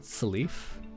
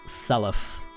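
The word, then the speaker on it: Seliph: It is like, I like it when people have Selef and Leaf's name rhyme. Salif? Oh, okay. Doesn't your friend pronounce it Salif?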